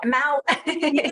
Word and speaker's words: Mouw: I need like a phonetic pronunciation. You got it, Mount.